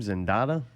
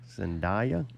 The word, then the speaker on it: Zendaya: I don't know how to say the chick's name, Zendaya. Zendaya.